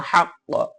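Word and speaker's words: حق: আপনারা অকফ করেন তাহলে এই যে কফটা হাক্ক আমরা বলতেছি হাক্ক বলতে পারবো না হাক্ক এরকম শব্দ করতে হবে মানে কফ দুইবার উচ্চারণ হবে হাক্ক তাহলে এখানে আমরা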